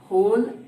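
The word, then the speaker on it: whole: होल means W silent रहता है इसमें, होल नहीं पढ़ेंगे, होल नहीं पढ़ेंगे, इसको पढ़ेंगे होल।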